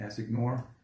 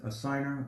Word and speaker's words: assignor: You can pronounce it assignee, assignor. But the correct way is assigner.